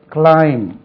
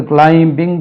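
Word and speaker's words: climb: meaning கொடுத்திருக்காங்க ஏறு மேலேச்சல் கிளைம் இதுக்கு பி உச்சரிக்கக்கூடாது கிளைம் இம்ல முடிச்சிடனும் கிளைம் தி கிளைம்பிங் தி ட்ரீ வரக்கூடாது கிளைம்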